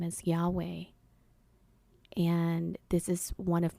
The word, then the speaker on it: Yahweh: do you actually pronounce Yahweh? And he pretty much said, Yahweh is the sound that we make when we inhale and exhale.